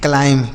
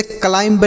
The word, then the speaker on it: climb: आगे लिखा है CLIMB, इसे हम पढ़ते हैं क्लाइम। क्या पढ़ते हैं? क्लाइम। अब क्लाइम मतलब इसे क्लाइंब नहीं पढ़ेंगे, यहाँ पर जो बी लिखा है यह साइलेंट है, इसको नहीं पढ़ते हैं।